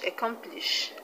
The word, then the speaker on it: accomplish: is on t-i-n-t and the word accomplish the stress is on calm c o m i hope that's clear